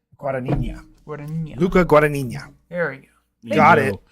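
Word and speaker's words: Luca Guadagnino: Luca Guania.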